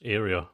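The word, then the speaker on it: área: Yeah, the Spanish word for area is area, but with an accent on the A.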